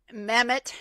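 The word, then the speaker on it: Mehmet: Mamemoth. Mame Oz.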